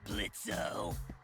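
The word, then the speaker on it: Blitzø: in it uh-huh sure blitzo the O is silent now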